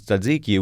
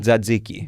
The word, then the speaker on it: tzatziki: People don't care about how you pronounce tzatziki, which to me is a much more difficult, like, TZ together.